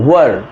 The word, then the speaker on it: were: Next were, WERE were। ज़्यादातर लोग इसका प्रोनाउंसिएशन गलत करते हैं तो आप इसका ध्यान रखें। WERE the correct pronunciation is were।